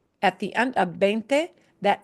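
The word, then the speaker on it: veinte: And remember, this B chica, the small V, sounds like a B, but it's softer. Not 20, but 20. 20. You have veins in your arm.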